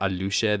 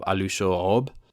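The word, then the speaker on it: Aluxo'ob: Alushob, and this one has a different pronunciation for plural. Instead of Alushe, they have Alushoob.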